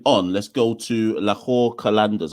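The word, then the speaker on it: Qalandars: let's go to laor kandas I always wonder if I say that right is it kandas or not it is you you actually nailed the pronunciation over there so um they just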